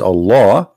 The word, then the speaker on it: Allah: The first one pronounced as Allah, the second one it says Lillah.